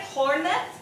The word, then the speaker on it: Hornet: Hornet. What were you saying? I thought it was pronounced differently. Like French? Hornet? No. I just thought it was like the H was silent and the T was Ornate.